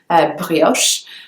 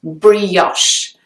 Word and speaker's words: brioche: big one is brioche I know in French this word would be pronounced very differently it would probably be just one syllable brioche whereas in English it has two syllables brioche there are two distinct syllables so the e sound is kind of elongated and it just into the so brioche the next one is